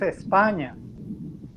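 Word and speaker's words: España: different how we pronounce if you go to spain it's not spain it's espana so nobody say spain so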